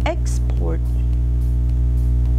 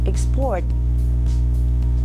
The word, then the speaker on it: export: can hear the stress the first syllable in the word export that is a noun and when we hear the word export that is being stressed on the second syllable that is a verb so i hope you